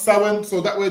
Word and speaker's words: Samhain: So it starts Samhain, but it's pronounced Samhain.